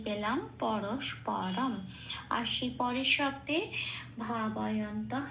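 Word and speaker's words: परस्परम्: তাহলে আমি প্রথম শব্দটা সংস্কৃত উচ্চারণ কি পেলাম? পরস্পরম।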